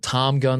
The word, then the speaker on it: Tom Gun: He does a show Tate and I went to called Tom Gun Live. We didn't mispronounce that. Tom Gun. It's called Tom Gun Live.